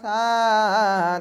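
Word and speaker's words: ث: উচ্চারণ কেমন হবে? জিহ্বার আগা হতে নরম ভাবে আদায় হবে।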